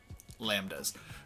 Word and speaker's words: lambda: of those work as lambdas which is spelled L a and B okay D a lambda except to be a silent like a little mary had a little lamb' de yeah and that's the